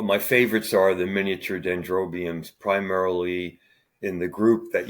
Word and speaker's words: dendrobiums: you mainly grow dendrobiums is that the correct pronunciation yeah dendrobiums I grow all sorts of Miniatures uh there's